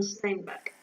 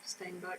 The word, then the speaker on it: Steinbeck: Steinbeck, same thing. No, because if it was Steinbeck, it'd be an A, not an E. Steinbeck. Until this person comes up to me and tells me otherwise, it's Steinbeck.